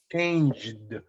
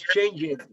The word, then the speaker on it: changed: When you say changed, music changed, you don't pronounce changed, no, but you pronounce changed. And the pronunciation of a final D is pronounced D, changed.